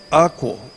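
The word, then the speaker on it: ἀκούω: Está escrito A-K-O-U-W, que se pronuncia akouo, que quiere decir escuchar para entender lo que se ha dicho.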